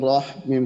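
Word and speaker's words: الرحيم: টা মোটা হবে র এর যে দুইটা দুইটা উচ্চারণ দুইটা মোটা হবে তাহলে রহ জবর রহ মিম খারা জবর মা নুন রাজের নীর তাহলে বিসমিল্লাহির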